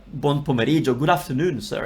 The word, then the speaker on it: buon: So you got three sounds in buon.